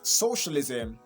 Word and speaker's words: socialism: Remember, this word is getting from social. So you have to understand where to stress. Social is stressed at the beginning. So, and that's the first syllable, right, from your left. So you adding ISM at the end of the word doesn't change the stress position, okay?